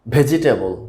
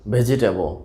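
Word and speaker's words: vegetable: তো আজকের প্রথম ওয়ার্ডটি হচ্ছে ভেজিটেবল। ভেজিটেবল, তো আমরা উচ্চারণ করে থাকি ভেজিটেবল, তো এটি সঠিক উচ্চারণটা আসলে হবে ভেজটাবল। ভেজটাবল, তাহলে আমরা বুঝতে পারলাম ভেজটাবলের সঠিক উচ্চারণটা আসলে হবে ভেজটাবল, ভেজিটেবল না।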